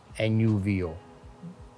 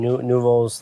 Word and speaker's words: Nouveau: Yes, spelled N-U-V-O, and for those who don't know, in French, nouveau, not spelled like that, but nouveau means new.